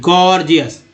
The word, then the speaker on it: gorgeous: गॉर्जियस में पहला जी ग के रूप में, दूसरा जी ज के रूप में, गॉर्जियस उच्चारण हो रहा है।